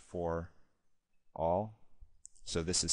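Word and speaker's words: ∀: in fact that this by the way is pronounced for all so this is saying the denominator is never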